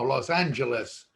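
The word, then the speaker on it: Los Ángeles: cefardi de los angeles well no los angeles we pronounce the g in our in our spanish and it originally was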